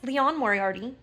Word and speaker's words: Liane Moriarty: it's just getting embarrassing her name is Leon Mori and in this whole video I kept saying lean so I apologize Leon